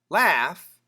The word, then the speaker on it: laugh: M laugh l a u g h the same sound as tough t o u g h but longer.